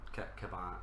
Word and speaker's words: Kevan: So the relationship between Kevin and Lancel, i.e.